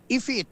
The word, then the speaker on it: ipit: Ano bang tamang pronunciation? A fit ifit yan ah ifit.